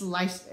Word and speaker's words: Leicester: But the British BFL yarn is blue-faced Leicester, and it looks like Leicester or Leicester. But I promise, it's Leicester.